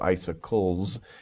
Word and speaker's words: icicles: say i circled two so icicles is the plural but ice ice icicles like ice and ickle not a popsicle popsicles